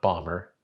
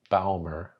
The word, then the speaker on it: Baumer: your name properly pronounced, not Bomber, Baumer. I know, sounds funny in America, but it's not. It's not Bomber, it's Baumer.